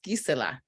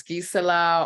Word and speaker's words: Gisela: so it's it's actually the root of my name is actually in German it's Gisela um so that it has traveled so it's Giza LA or Giselle in French or Isela in Spanish or even gazelle in